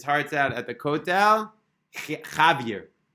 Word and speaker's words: Javier: Javier. Javier, but the way it's pronounced, Javier, which sounds very, very similar to Chivra.